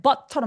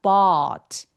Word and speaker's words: bought: bought us coffee 하면 but처럼 들려요. 그래서이 but 샀다 by라는 단어의 과거 동사죠. 저 소리는 어떻게 되냐면 bought b but 아까 그 이비누과 소리예요. 그래서 턱이 엄청 길어지고 소리가 굴곡지게 나야 돼요. 길어야 돼요.